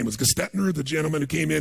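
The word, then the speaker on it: Gerstner: And they brought in, I don't know how to pronounce his name, it was Gestetner, the gentleman who came in, who was like the major turnaround guy. What's his name? Gertner, thank you.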